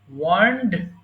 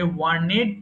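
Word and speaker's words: warned: আচ্ছা, তাহলে কি হবে ওয়ার্ন, ওয়ার্নড, ওয়ার্নড। এটা অনেকে ভুল করে ওয়ার্নেড পড়ে, পড়ার সময় এটাকে ওয়ার্নেড পড়া যাবে না, এটা বলতে হবে ওয়ার্নড।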